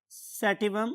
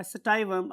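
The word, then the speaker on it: sativum: अगर आप internet use करेंगे और डिफरेंट प्रोनाउंसिएशंस देखेंगे तो आपको स्टाइवम और सैटिवम दोनों प्रोनाउंसिएशंस मिलती हैं.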